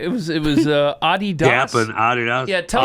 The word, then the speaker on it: Adidas: It was Adidas.